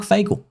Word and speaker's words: Fagel: Who's Mark Fagel? Mark rhymes with bagel.